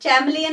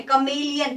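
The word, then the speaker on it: chameleon: कमेलियन, चैमलियन नहीं है, कमेलियन।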